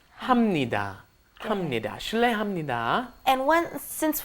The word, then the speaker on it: 합니다: me die it doesn't it looks like you should be saying how many that but that's once again I'm having trouble pronouncing it happy da so you end up saying hamnida hamnida hamnida and one